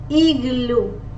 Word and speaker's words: igloo: Igloo. G, G, G. Igloo. I as E. E. E. G as G, because it is followed by the letter L. Igloo. G, G, G. Igloo.